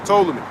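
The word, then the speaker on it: Ptolemy: I I don't think you pronounce the P and told me, but there's a P in it.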